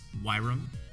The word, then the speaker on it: Wyrom: or the heist and remember it's pronounced yram Network I'm my Lex